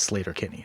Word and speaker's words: Sleater-Kinney: If you hear Carrie Brownstein say it, she says Slater Kenny.